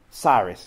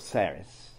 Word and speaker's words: Saris: Probably he should pronounce it John Sayers, S-A-Y-E-R-S. But he himself wrote it S-A-R-I-S. So people today often pronounce his name Cyrus or Saris.